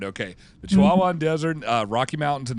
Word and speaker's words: Chihuahuan: with three distinct ecosystem uh is it the Chihuahuan Desert yes absolutely okay I am pronouncing it right okay the Chihuahuan Desert uh Rocky Mountains and the Rio Grand